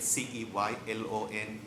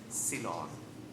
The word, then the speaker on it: Ceylon: One totally unneeded comment because one of the streets is spelled C-E-Y-L-O-N. The proper pronunciation of that thing is Ceylon. C, like you see something, not say. Not Ceylon.